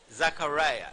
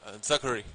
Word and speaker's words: Zachary: And Mr. Zachariah, is that I pronounced the word right? Zachary. Zachary, Mr.